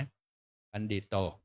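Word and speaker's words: ปัณฑิโต: สังเฆ ปะโมทติ ตัสสมาหิ อิปันฑิ นะ ออก เสียง เป็น ด เด็ก นะ ปัณฑิตโต ยัสา ตะถาคะโต อะจรา สุปะฏิติปิตา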